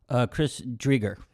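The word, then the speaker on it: Chris Driedger: if they play the backup, how do you pronounce his name? Chris Drieger.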